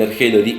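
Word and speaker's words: ἀρχή: Eso es lo interesante en el sentido de que cuando yo digo arjé y veo cómo se escribe, cuando observo cómo se escribe arjé, se escribe con alfa, ro, chi y la letra eta.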